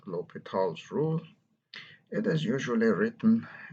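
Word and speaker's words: L'Hôpital: To do so, we use a method called lHopitals rule. It is usually written in text as with an S, but it is pronounced lHopital with a silent H.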